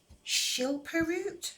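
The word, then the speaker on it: Schilperoort: Schilperoot, I think is how you pronounce it.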